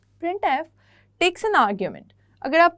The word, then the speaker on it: printf: यू can call it printf, simple उसका pronunciation है वो ये है. printf takes an argument.